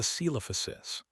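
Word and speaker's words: Coelophysis: It was a celophosis. Daniel had pronounced the C like an S, the first part of the name pronounced like seal, the middle like O.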